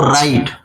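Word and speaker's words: write: wind मैंने दूसरा बोला जैसे आप लिखते हो राइट देखि आप डब्लू के बाद आर आ रहा है डब्लू साइलेंट हो गया और मैंने तीसरा बोला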